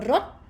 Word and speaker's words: รถ: word, you say รถ There's no sound coming out of your mouth anymore. It's not like a sonorant ending consonant like ron. See? So rot, it stopped.